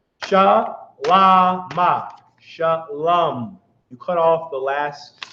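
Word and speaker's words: שלום: So this is how you write it, but it's pronounced shalom. Sha, la, not low, because there's no vowels. Shalama. Shalom.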